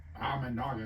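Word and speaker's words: Imanaga: final winner sh am amaga amaga is how you say that right can run through January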